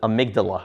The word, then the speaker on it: amygdala: part of that limbic system is called the amygdala, right? Amygdala is how you pronounce this word right here.